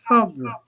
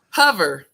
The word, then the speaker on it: Hover: Tell us a little bit about Hoover, Ashley. Okay, it's actually pronounced Hover. Hover. Yeah, Hover is an app that's been around.